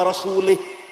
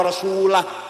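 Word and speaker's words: وَرَسُولُهُ: Wa annallaha bari'um minal musyrikin wa rasulih. Allah tidak melindungi orang musyrik dan tidak melindungi Rasulullah. Salah. Karena baca wa rasulih. Yang benar bacanya wa annallaha bari'um minal musyrikin wa rasulah.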